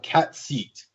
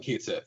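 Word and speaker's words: Cait Sith: Technically, the proper Irish Gaelic way of pronouncing it is cat seat. Cat seat. Yeah, but I've always called it Kate Sith because that's the way it's spelled.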